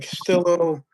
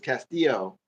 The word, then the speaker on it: Castillo: But I think that um the Castello or like the Marcos is probably one of the bigger ones or the biggest the L's the L's aren't pronounced. It's Castillo.